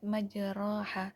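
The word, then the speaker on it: مجراها: Yang ketiga, kalimat majroha dalam surat Hud ayat 41. Imam Hafiz membacanya dengan bacaan imalah, alif setelah ro, berdasarkan hal ini ro menjadi tipis, dibaca tipis. Imalah ialah suara di antara alif dan ya.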